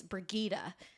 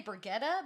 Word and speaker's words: Brigitta: for this one and I wrote down how to pronounce her name it's brigitta it's brigitta yeah I'm so proud of myself brigitta frigida I was gonna say brigetta but but then I saw her how she how you pronounce it so thank you